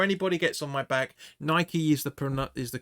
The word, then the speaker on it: Nike: Before anybody gets on my back, Nike is the correct pronunciation of it, because it's named after the Roman god of sport, which was Nike. So it's not Nike.